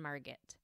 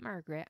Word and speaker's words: Margit: Karl Mabel Harold and Margit not Margaret I'm not pronouncing it wrong it was Margit em argi T little Karl loved trains